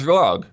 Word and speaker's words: ROG: It's rag. It's it's not a mystery. You are the only people who have ever been confused about this.